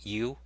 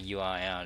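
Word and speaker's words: eww: U-E-W-W, that's pronounced U, I suppose. You know, a lot of people don't like the name, but I actually like it because, you know, it rhymes with www, and it's, you know,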